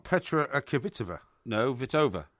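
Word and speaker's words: Kvitová: No, Kvitova. It's Kvitova. No, it's not. It's Kvitova. No, the K is silent, honestly, believe it me.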